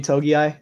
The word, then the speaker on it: Togiai: I'm really excited to watch Tommy Togiai. Is that how you say his name? Yeah.